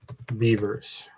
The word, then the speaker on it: Bewers: It's spelled Bewers, but it's pronounced Beavers.